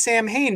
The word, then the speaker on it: Samhain: Also, interesting tidbit, the character's name is Sam Hain because that is how it's spelled. But it's pronounced Samhain.